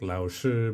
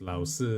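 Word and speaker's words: 老师: And even just like pronouncing like Lao Shi becomes Lao Si and stuff like that. Yeah. The dropping of the H Yeah. is an influence from Taiwanese, just like ka hui instead of cafe.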